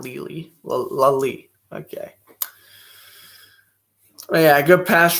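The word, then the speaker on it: Lelie: The intended man was Lely, and it's now 3rd and 20. I'm pronouncing that name right. Ashley Lally. I think it's Ashley Lally, not Lely.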